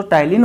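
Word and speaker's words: ptyalin: ठीक इसी प्रकार साथियों जो टाइलिन होता है इसे तो पी से लिखा जाता है साथियों, लेकिन बोला प्रोनाउंस टी से किया जाता है, टाइलिन एमाइलेज एंजाइम।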